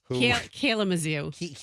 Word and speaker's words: Kalamazoo: Kalamazoo. That's how you say it.